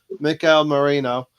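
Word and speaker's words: Mikel Merino: I'm going to try and say it properly Mikel Marino from real CAD this looks like a real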